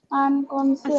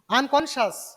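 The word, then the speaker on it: unconscious: আনকনসিয়াস স্যার আনকনসিয়াস না না, ও না, ওটা আনকনশাস। কনশাস উচ্চারণ হয় এটা।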